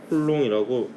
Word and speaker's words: 쿨롱: 단위는 전하하고 관련된 전하를 가진 입자끼리 주고받는 전기력에 대해서 밝힌 쿨롱의 이름을 따서 C라고 표기하고 읽기로는 쿨롱이라고 읽습니다.